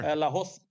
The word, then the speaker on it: Lahoz: Is that how we're pronouncing that, Sean? Sure. Lahoz.